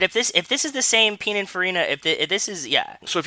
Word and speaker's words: Pininfarina: Is that how it's pronounced? Is it Pininfarini's making their own cars now? It's this. Pininfarina. Pininfarina.